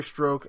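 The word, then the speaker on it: Strzok: surrounding this agent Peter stroke in which his name is not spelled like that I don't know why it's pronounced that way Peter stroke and director raise FBI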